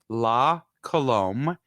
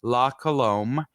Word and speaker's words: La Colombe: It is called La Colombe, LA, and then space Colombe. I believe it's French. I'm doing okay. a horrible pronunciation. La Colombe.